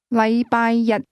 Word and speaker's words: 禮拜日: The difference is that the word one used with Monday is pronounced with a high level tone, while the word day is pronounced with a low level tone.